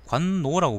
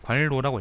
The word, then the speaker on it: 관로: 여기 번역하신 분은 관노라고 번역했는데 저는 그냥 관로라고 읽겠습니다.